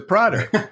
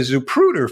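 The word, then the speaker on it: Zapruder: film the pruder okay you say depruder i say is a prodder mainly because i said it wrong but actually you're right it's a zupruder film and for those of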